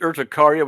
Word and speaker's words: urticaria: And so the urticaria. No, seriously, none of it for weeks, like since August, right. since the first August 31st. Okay. The heat urticaria, which you didn't really work on, seemed to have gone.